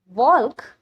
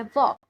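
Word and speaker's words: walk: और ये है वॉक, मतलब चलना। यहाँ पर के साइलेंट है और यहाँ एल साइलेंट है, मतलब इन्हें लिखा तो गया बट बोला नहीं गया।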